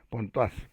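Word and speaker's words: Pontoise: a María de la Encarnación al Carmelo de Pontuá. Ponto se escribe Pontois que quiere tanto.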